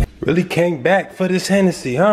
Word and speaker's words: Hennessy: How do you say Hennessy? Hennessy? Hennessy. Hennessy. Like Tennessee.